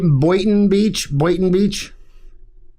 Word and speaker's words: Boynton Beach: Boynton Beach?